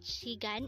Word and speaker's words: 시간: Korean again it's chicken how do you write shigan in Hangul this composed of two syllables for the first syllable she we need